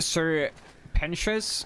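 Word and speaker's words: Sir Pentious: It's pronounced Sir Pentius.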